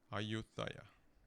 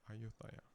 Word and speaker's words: Ayutthaya: How do you pronounce it? Ayutthaya. Okay, Ayutthaya.